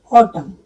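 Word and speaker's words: autumn: जैसे मैंने बोला ऑटम, तो ऑटम में एम एन लास्ट में आया तो ऑटम, जबकि इसका प्रोनाउंसिएशन है ऑटम, तो इसमें एन साइलेंट है। हिम, एच वाई एम एन,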